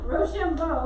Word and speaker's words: Rochambeau: Okay, Rochambeau is how you say that, but that was a good try.